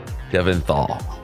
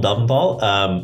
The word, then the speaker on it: Delventhal: My name is Delventhal, or Delventhal. We were just joking about how there's a fight in the family about which is the correct pronunciation.